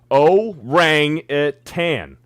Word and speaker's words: orangutan: so you guys can stop pronouncing orangutan that way it's like nails on a chalkboard oh rang it tan so orange again right Hayden Hayden for